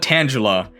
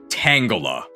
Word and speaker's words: Tangela: I pronounce this correctly it's not Tangela it's Tangela slow defensive pure grass type